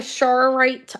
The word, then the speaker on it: charoite: I think I'm pronouncing that stone right. Charoite. It's a c h a r o i t e I believe.